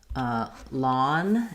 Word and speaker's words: lawn: So looking at these three words, for lawn, we have the ah vowel. For long, long, we also have the ah vowel. Here we have the n, here we have the ng. And for lung, we have the ng, but the schwa vowel.